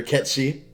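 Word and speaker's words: Cait Sith: out loud see ya they pronounced like Kate said they're ket she yeah exactly exactly that's why I'm saying it has to be Scottish because the whole cat she think that was the funny part about that that was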